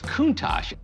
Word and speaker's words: Countach: you pronounce the name is it kuntakuntes well it's Countach Countach is piedmonty's dialect for